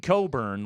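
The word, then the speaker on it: Cockburn: your Illinois guy that I said the name exactly as it's spelled and I shouldn't have uh that was that was Kofi curn not spelled like that Kofi Coburn last name spelled c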